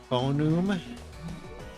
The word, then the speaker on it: Fonewm: Okay, so we're back with my uh phon that's how you would pronounce it for Newman.